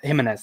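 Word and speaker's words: Giménez: Yeah, Jimenez, that's it.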